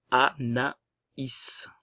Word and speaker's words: Anaïs: Comme il y a le tréma, como está la tilde, le tréma, vamos a separar las dos vocales. Anaïs.